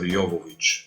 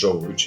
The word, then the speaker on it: Jovovich: I'm talking about Ultraviolet, 2006 movie with my favorite Milla Jovovich. Yeah. Actually, Jovovich in English, but because she's Ukrainian, in Ukraine they're gonna call her Jovovich, and in Bulgaria also Jovovich.